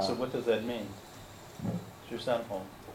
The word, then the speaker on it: Shisanhang: Shisanhong. Shisanhang Yeah.